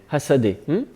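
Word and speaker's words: הַשָּׂדֶה: Alors attention, c'est pas Shadé, il y a le point est à ta gauche. Hasadé.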